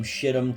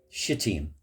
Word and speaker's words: Shittim: Marble angels looking down, and she very carefully pronounced it Shittim, as if it were French.